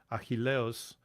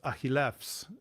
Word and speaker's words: Αχιλλεύς: In the Erasmian pronunciation, he pronounced it Achilleos, whereas it's Achillefs in modern Greek.